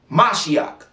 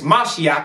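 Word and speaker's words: משיח: English stole from everybody it's a Hebrew word mashiach it's how you say it in Hebrew ancient Hebrew not Yiddish not the the Jewish people speak paleo Hebrew is mashiach and it means anointed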